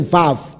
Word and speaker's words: vav: 这个时候就是 v，而不是 u，乃是 vav。